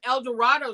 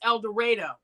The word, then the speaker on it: El Dorado: street name now, but they pronounce it here, it's El Dorado. Huh? What? Yeah, so I kept saying El Dorado, and they were like, no, that's wrong.